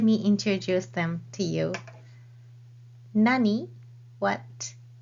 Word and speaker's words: 何: it in a sentence this question word what has two pronunciations in Japanese either Nani or Nan and they change the pronunciation depending on what word comes after the question word Nani is used before a particle and n is used before this and counters so a question word